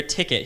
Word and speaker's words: ticket: it's click it or ticket he's like that makes absolutely no sense why is there an e if it rhymes with it like it should just